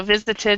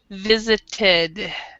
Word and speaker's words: visited: since he visited so visited his parents so remember with when you have a t and an ed this e is actually pronounced so you would say visited visited okay okay teacher excellent